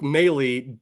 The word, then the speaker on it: Moehle: Well, it's Meley.